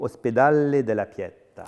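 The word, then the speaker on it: Ospedale della Pietà: du 18e et plus particulièrement l'institution si je prononce bien Pio hospedale de la Piette ah très belle prononciation alors déjà Venise Venise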